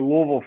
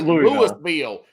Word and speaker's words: Louisville: Because some people say Louisville or Louisville. No. It's Louisville. I say pretend you got a titty in your mouth, and that's how you say it.